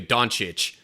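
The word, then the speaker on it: Dončić: basketball is is Luca donic but his last name is spelled with two C's so both C's make a CH sound now I think there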